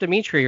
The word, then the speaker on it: Dimitri: Yeah, so, and it is pronounced Dimitri, right? Yeah.